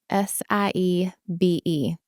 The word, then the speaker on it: Siebe: It looks really hard, but it's just like the letter C and the letter B.